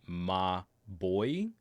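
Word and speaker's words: Mobvoi: walt summarist is saying m-o-b-v-o-i is pronounced ma boy but that doesn't make any sense wouldn't it be like mabwa i don't know anyway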